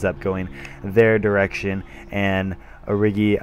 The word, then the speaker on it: Origi: going their direction, and Origi, I believe, is actually how you pronounce his name. I always want to say Origi, but it's just not Origi.